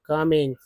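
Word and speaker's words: calm: बोलते हैं तो गोइंग कमिंग सी को स बोलते हैं तो पुलिस एल एम को म बोलते इसमें एल साइलेंट है तो काम डीजी को कोज बोलते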